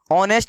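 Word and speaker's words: honest: ऑनेस्ट। इसको पढ़ते हैं हम लोग, ये बात ध्यान रखिएगा, आप लोग नहीं जानते जान लीजिए आज से। एच साइलेंट रहता है, ऑनेस्ट लिखा हुआ है।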